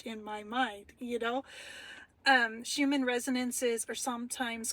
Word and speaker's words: Schumann: I'm sorry, it's spelt Schumann.